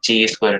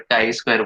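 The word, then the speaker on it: chi-square: Pronunciation शायद मेरा गलत हो सकता है, ची स्क्वायर टेस्ट बोल सकते हैं। ठीक है, बट काई स्क्वायर बोला जाता है।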